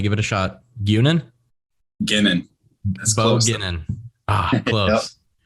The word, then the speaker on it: Guenin: Guenin.